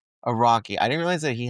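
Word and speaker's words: Araki: Iraqi. Iraqi.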